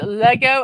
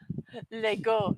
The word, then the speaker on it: Lego: You said Lego and not Lego. It's leg. It's LEG leg, not LA.